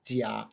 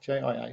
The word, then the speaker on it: 家: So the Chinese character for family, it's pronounced jia, J-I-A, first tone, jia.